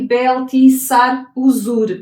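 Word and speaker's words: Belṭ-šar-uṣur: eh e está aqui beltis sar uzur que era o a linguagem babilónica eh pronunciava assim e significa que proteja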